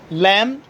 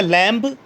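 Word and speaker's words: lamb: लैम, डम, थम, टूम। कभी भी ऐसे मत बोलिएगा लैम्ब, डम्ब, थम्ब, टोम्ब, ऐसे नहीं होता।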